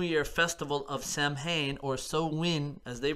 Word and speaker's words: Samhain: or celtic new year festival of samhain or so win as they pronounce it was born and in the 1800's